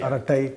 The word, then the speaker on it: Arattai: name is resonated people are learning so it's arati people learning how to pronounce it I think it'll become popular